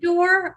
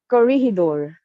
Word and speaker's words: Corregidor: corridor or not corregidor? Are you saying corridor? Corregidor. It's Corregidor. like a corregidor. It sounds like that.